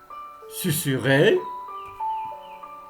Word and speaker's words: susurré: voyelles se prononcent êtes on me voir dans cette leçon que le s entre deux voyelles se prononcent s dans 10 cas particulier tout d'abord dans les mots suivants susurré susurré sur est susurré